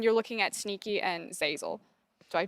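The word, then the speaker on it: Zeyzel: And then you're looking at Sneaky and Zazel.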